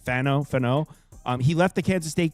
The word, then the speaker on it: Fano: Spencer Fano, I think that's how you say it, Fano.